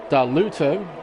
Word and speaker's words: Darluto: Completing the rest of the table, Darluto, as I realise that's how you actually pronounce that, Noah in P7, Lakeshow P8, Black Baller in 9th, and Oscar Toll rounds out the top 10.